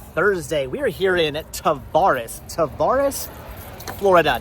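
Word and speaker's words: Tavares: We are here in Tavvaris, Florida. Not how I would have pronounced that. Probably would have said Tavvaris or something. It's Tavvaris, Florida is where we are right now.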